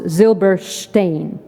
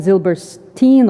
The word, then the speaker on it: Zilbershtein: So, in my part of the world, my family name sounds as Zilbershtein. But here it is more often Zilberstein or Zilberstein.